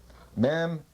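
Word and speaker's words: מם: Mem, pronounced M, means water, sea, mother in Hebrew.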